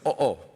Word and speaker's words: oo: way you say yes the word yes in english in filipino it's oh it's spelled o o o so he said my